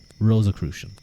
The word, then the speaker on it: Rosicrucian: Pronunciation. Rosicrucian.